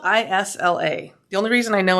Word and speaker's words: Isla: It's once again, it's called the Isla. And it's spelled I-S-L-A.